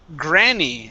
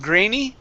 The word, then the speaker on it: granny: This word here is pronounced granny. Instead of grainy, gray, it's granny. Granny.